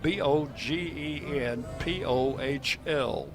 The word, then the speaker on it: Bogenpohl: Spell his last name spelled b o g e n p o h l, pronounced Bogenpohl. 6'6" 245.